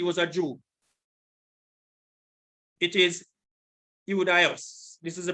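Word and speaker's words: Ἰουδαῖος: It is Iudaios. This is the pronunciation. Strong's G 2453, Iudaios.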